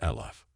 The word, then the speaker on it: Aleph: or power in Aramaic this letter is written as and pronounced as eloff the fourth letter is